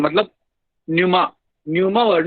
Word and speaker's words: pneuma: तो न्यूमा का मतलब एयर होता है, PNEUMA, न्यूमा इज एयर, पी is silent.